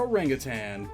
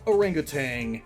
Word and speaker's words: orangutan: and continue on quazar orangutan frequently mispronounced as orangutang and it's in a